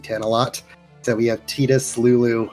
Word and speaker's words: Tidus: So we have Tidus, Lulu. I want to say Titus, but it's Tidus.